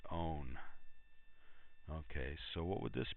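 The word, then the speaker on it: -one: would be a ketone this suffix are ending is 0 NE pronounced own ok so what would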